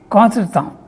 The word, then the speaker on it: contretemps: This is a French word, I think it has come into the English language also, pronounced as in French, contretemps. It means awkward, embarrassing moment.